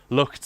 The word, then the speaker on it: Lucht: If, by the way, anyone's wondering why I'm pronouncing it like that, Lucht, I'm trying to pronounce it correctly. As Lucht is one of our many friends from the Netherlands. And for a long time I said Lucht, you know, it's like it was a German pronunciation.